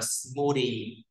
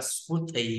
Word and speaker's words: smoothie: Ở đây sinh tố đọc là smoothie. À, âm đờ nhé, không phải là smoothie nhé.